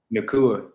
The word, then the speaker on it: Nacua: Nacua.